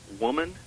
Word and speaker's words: women: the english language where when it's made plural the spelling changes in the second in the second syllable but the pronunciation changes in the opposite syllable the unchanged syllable let's have it there's only one word and it's appropriately i think it's a pretty appropriate word considering how illogical that's this is woman and women w-o-m-a-n-w-o-m-e-n and yet we change the pronunciation of the w-o oh we change i